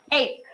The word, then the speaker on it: ache: Now the Italian CH which says ca is, let's say it, ache.